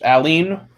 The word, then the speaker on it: allene: similar word in there's a very similar word like in organic chemistry, which is allene, and you pronounce it the same way.